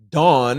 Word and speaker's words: Dawne: Next one is from Dawn, and I like how at the end she said Dawn is Dawne, but the E is silent.